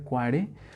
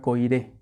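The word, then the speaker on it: Koyré: Hace poco aprendí que se pronuncia Poiré, yo siempre lo pronunciaba Coiré. Pero no, ya hasta lo puse así de eso que pones en Google y te dicen cómo se pronuncia. Y sí, efectivamente, incluso si lo buscan en la página, viene pronunciación y es Poiré. Entonces me voy a referir a Poiré cuando bueno, como advertencia, no es Coiré, sino Poiré, por si lo escuchan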